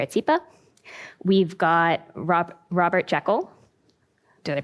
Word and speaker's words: Jekyll: We've got Robert Jekyll. Did I pronounce that correctly?